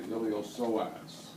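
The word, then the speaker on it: iliopsoas: two it's called the ilos soas the p is silent okay next to that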